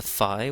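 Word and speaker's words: ϥⲁⲓ: Shai the next is the FI which is another letter F that appears in the Coptic alphabet in addition to the F so this is the FI it's f as in fan next is the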